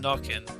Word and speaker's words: Nokken: In second place we have CC9's, how do you pronounce it? It's your creation. I think it's just Nokken.